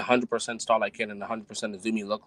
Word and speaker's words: AZM: It is that AZM, you fucks. It is Azumi.